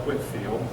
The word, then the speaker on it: Whitefield: in Georgia named after except we call it Whitfield I've see her deadening pronounced Whitfield in Whitefield these were the leaders